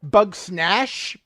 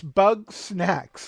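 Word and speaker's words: Bug Snax: I've heard it from Jen pronounced Bug Snash, Bug Snatch, Bug Snack. Like, it's Bug Snacks. Like, snacks that are made out of bugs.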